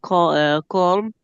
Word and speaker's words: calm: Wind and the sea was calm. The uh cold cal. The band were playing. L is silent. Don't pronounce M. Yes. Calm, calm, calm.